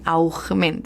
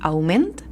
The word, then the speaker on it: augment: Passa el mateix que quan, per exemple, parlem de la paraula augment. En valencià porta una G, però no fem aquesta pronunciació tan forçada, no? De augment, sinó que diem augment i hem de recordar posar-li la G.